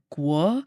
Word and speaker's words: Guo: tones are hard, but it's more like gu. So, it's not like a guo. It's like more of like a gu is like how I would phonetically spell it out.